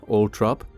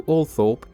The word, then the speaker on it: Althorp: The pronunciation, Althorp, is the preferred one of the Spencer family, although Althorp is an alternative, more common pronunciation.